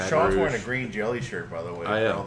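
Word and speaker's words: Green Jellÿ: the way all the Green Jelly pants Green Jello my dad's about to pass out over they like to correct you that even though the Y with little dots still is pronounced green jelly that's why they did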